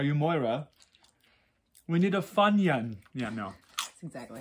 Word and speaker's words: Funyun: fun young are you moira we need a funyun yeah no that's exactly how you say it